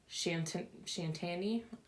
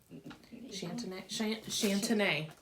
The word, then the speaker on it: Chantenay: These ones are a red cord Shantani. I'm not quite sure. Is anything Shantani? Chantenay.